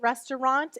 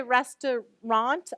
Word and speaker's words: restaurant: So this could also be an ah here, a broad A, restaurant.